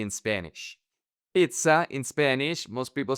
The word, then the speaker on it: pizza: Pizza. In Spanish, most people say pizza. Jacuzzi. Most people say jacuzzi. So, people in Spanish pronounce the double Z like an S.